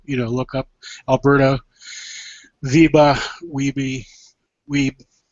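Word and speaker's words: Wiebe: her name is MH I'm gonna say it in German Viba vber Viba w w IE B okay uh so it's not I'm sure they don't pronounce it that way in in Alberta but um she did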